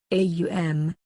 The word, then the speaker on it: Om: Because these three letters, Aum, pronounced in combination as Om, may well be the generalized symbol of all possible sounds.